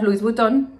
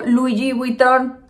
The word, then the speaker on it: Louis Vuitton: en todos y entonces una vez llegó un cliente que al igual que yo no podía pronunciar louis vutton así le digo yo así suscribe así lo prometo y entonces dijo louis vuitton y yo dije tienes razón mira cuando uno no